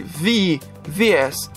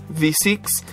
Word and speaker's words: VVVVVV: programa JP vvvvvv pronuncia-se vi vs ou V6 é um jogo eletrônico